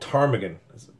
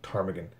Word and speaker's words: ptarmigan: hunt in iceland called ptarmigan the silent p at the beginning ptarmigan and it's it's like